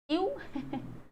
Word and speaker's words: ewe: अगर हमारे सामने शब्द आया EWE, बताओ क्या उच्चारण करोगे, यू हाँ, इसका साउंड होता है बच्चे यू, यू, और जब इसका